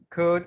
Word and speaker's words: could: to show you something in the words wood could and should the l is silent yeah it's not sound it's wood i'm joined in either